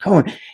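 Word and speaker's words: Cowen: is the economist Tyler Cohen. It looks like Cowan I think is pronounced Cohen.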